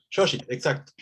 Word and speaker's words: Xochitl: Xochitl es una Xochitl, palabra difícil de Xochitl, pronunciar, sí, porque además lo Xochitl. tenemos, ¿no? Xochitl, exacto.